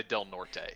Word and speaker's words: Del Norte: that no wait what that's not how you say it's delnort why off